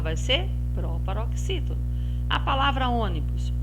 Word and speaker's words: ônibus: proparoxítona a palavra ônibus o ônibus é o primeiro passo é separar nesse segundo passo nome a última penúltima antepenúltima sílaba terceiro passo é verificar se tem acento e o circunflexo ou sinal do tio no caso de ônibus tem um sinal circumflex então a sílaba que está recebendo aqui o sinal é a antepenúltima sílaba então ela vai ser proparoxítona muito bem agora vamos